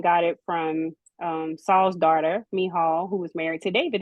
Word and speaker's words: Michal: Okay, my full name is I'm gonna say the actual pronunciation of it when I say it. So it's actually Michal. So that is how you say my first name is Michal.